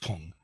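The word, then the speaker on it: 품: that means class, ranking, or quality, and it's pronounced pung.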